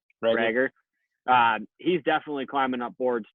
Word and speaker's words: Reagor: That Jalen, is it Reagor or Rager? How do you pronounce that one? Rager.